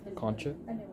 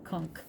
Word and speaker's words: conch: Next is the superior nasal concha. Conch. Don't go to the islands and say it wrong, because they will correct you vehemently. Conch.